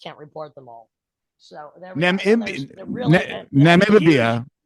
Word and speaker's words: Namibia: So Namibia. How do you say that? Namibia?